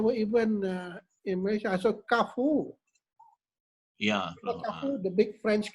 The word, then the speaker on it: Carrefour: Carrefour is pronounced Carrefour.